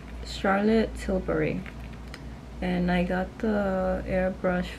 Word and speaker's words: Charlotte Tilbury: got this powder from Charlotte hibler I don't even know how to pronounce it Charlotte what's the name Oh Charlotte Tilbury and I got the